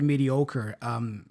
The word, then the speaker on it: mediocre: You got a little bit "ka" at the end there, yeah? Nice. Schwa.